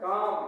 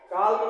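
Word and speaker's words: calm: half half means आधा सी ए एल एम काम काम मीस सान कालम नहीं पढ़ना कालम अगर बोलते हैं तो गलत है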